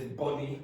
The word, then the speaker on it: bunny: And the pronunciation is bunny, which is what I heard the first time.